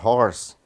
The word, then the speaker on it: horse: Então, eu coloquei o R aí em cima, representando que quando eu vou pronunciar a palavra horse, né? Eu pronuncio com a consoante R, né? Por isso que the H is sound. O H é sonoro.